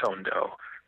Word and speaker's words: Tondo: Actually, it derives from Tony, and I pronounce it Tondo. Tondo, okay.